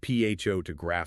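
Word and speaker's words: photograph: The noun pho to graph stress on the first syllable versus the related noun photosrafer. Oh, where the stress jumps to the second syllable.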